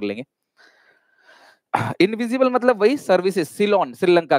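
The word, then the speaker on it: Ceylon: है हटेगा राहुल बेटा, एस से नहीं है, सी से है, ठीक है, सी से होगा ठीक है, सी से होगा क्लास, सी से, ठीक है, सिलोन मतलब वो सिलोन, इस तरीके से उसका प्रोनाउंसिएशन होगा, राइट, पर्शिया, करेक्ट पर्शिया,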